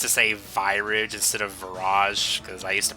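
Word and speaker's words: Virage: because I used to save Irish instead of Viraj because I used to pronounce it wrong yeah it's like he calls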